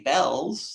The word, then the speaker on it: Bealls: They don't know how to pronounce our name. they say be um you know so it is bells in case you were